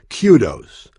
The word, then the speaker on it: kudos: singular noun meaning praise and it is properly pronounced kudos there is also a plural form spelled the